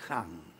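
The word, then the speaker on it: Khan: que sería el gengis han que la k y la H se pronuncian J al menos la casa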